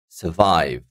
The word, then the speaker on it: survive: D question number one survive survive this is I'm putting the stress on the second syllable I'm not saying survive yeah I'm saying survive survive as you can see maybe you can feel it the Vive is higher than the first one survive happiness happiness that